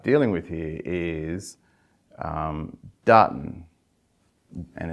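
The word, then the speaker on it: duhtn: And the first phonetic I want you to start dealing with here is um Dartton. And it's spelled D U H T N.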